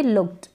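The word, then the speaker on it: looked: क्या है रिलैक्स्ड और इसको पढ़ेंगे लुक्ड क्या पढ लुक्ड ट का साउंड आ रहा है आप खुद से बोले पढ़े तब समझ में आएगा हेल्प क्या है हेल्प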